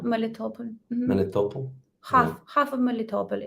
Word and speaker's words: Melitopol: Melitopol? Melitopol.